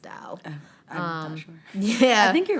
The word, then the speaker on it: Tao: dao the tau however it looks like tao but i believe it's pronounced dao yeah i think you're